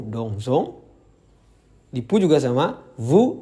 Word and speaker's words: dansons: Nah, untuk nous dansons dan vous dansez, kalian harus mengucapkan S di tengah-tengah itu dengan Z. Jadi, kalau di Prancis, kalau hanya ada satu S, mereka pengucapannya Z. Namun, kalau ada dua S, mereka baru mengucapkannya dengan S. Nah, di sini di dansons ini ada satu S, jadi bacanya adalah nous dansons.